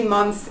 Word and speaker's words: months: away from this but here is going to be easy for you to pronounce months if you say months it sounds perfect months how many months in the year there are 12 months in the year months it's pronounced months just like this write it practice it